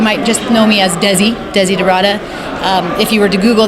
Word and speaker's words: Desiderata: Well, my name is actually pronounced Desiderata, like you said correctly.